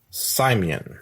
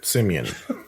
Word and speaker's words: Simeon: And she called his name Simon. Simeon. Simeon. I don't know why I mispronounced that one.